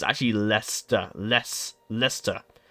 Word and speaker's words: Leicester: Americans will look at this and think say liester no it's actually leester it's pronounced really weird but it's actually leester Les leester it's really weird and a lot